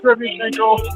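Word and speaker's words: Derevyanchenko: I'm going to call him Derevyenchenko. I like Derevyenchenko.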